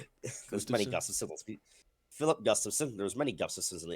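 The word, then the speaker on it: Gustavsson: Philip Gustafson. There's many Gustafsons in the NHL. Oh yeah, I was gonna Specifically say the there's no goaltender way for it's Minnesota. Gustafson. I know I'm pronouncing it correctly.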